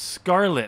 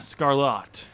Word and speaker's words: Scarlett: bardo come on no it's also pronounced scarlett not scarlot no it's scarlot i'm